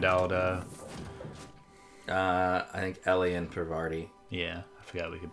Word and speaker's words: Parvati: Yeah, it's Parvati.